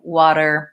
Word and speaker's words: water: song for you but it might simply be that you are pronouncing the T in water and Americans don't do it that way they use a flap T sounds more like water it sounds more like a D so some of these